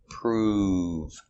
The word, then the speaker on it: prove: prove it very good similar word improve making the long oo sound improve to get better